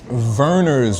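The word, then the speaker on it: Vernors: of like scheps more local how do you spell it b r b e rers verners with the V that's it's a local Drink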